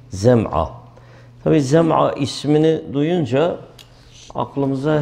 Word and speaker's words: Zem'a: Birincisi Abd bin Zem'a. Yani meşhur birisidir. Abd bin Zem'a. Yani Zeyle telaffuzu, Zal değil, Zem'a.